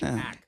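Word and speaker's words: Anderson .Paak: Paak, not Paak. Okay, Anderson Paak.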